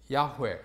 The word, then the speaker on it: 야훼: 예를 들면 여기서는 야훼, 여호와, 야훼라는 말은 여호와라는 말의 히브리식 발음 또는 독법이라고 이해하면 되겠습니다.